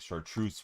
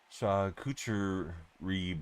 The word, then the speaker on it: charcuterie: I want to say it's like chartreuse board, but I don't think I'm saying it right.